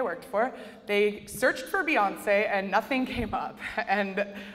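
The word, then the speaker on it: Beyoncé: test our stuff right beyonce is properly spelled with an e with a apostrophe on it or an accent on it otherwise it would be beyonce duh um and so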